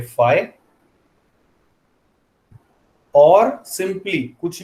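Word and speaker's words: phi: इसको प्रोनाउंस करेंगे फाइ.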